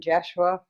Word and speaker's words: Jeshua: First of all, the name Jeshua, that is something that is easier for you to pronounce, but in my lifetime, 2,000 years ago, I was known as Yeshua.